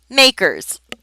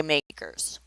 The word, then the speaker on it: MACRS: and we pronounce it makers and they even put the little quote there so you understand the acronym is MACRS and we say makers to compute makers depreciation